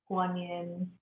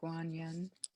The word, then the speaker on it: Guanyin: will um with her voice help us invoke guanyin and you're welcome to chant along if you